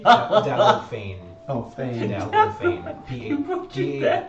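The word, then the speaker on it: Dalgophane: Dalgo Fane. Oh, Fane. Dalgo Fane. P-A. Okay. Do you want me to spell it for you?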